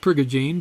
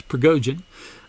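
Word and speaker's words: Prigogine: uh ilya pragujian i am corrected about the pronunciation of his name i called it priya jean but it's pergojian uh ilya pragojian uh won the nobel prize in chemistry because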